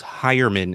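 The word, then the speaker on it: Heuerman: Dalton Jeff I'm Stoltz hire Minh is the correct way to say it and OJ Howard I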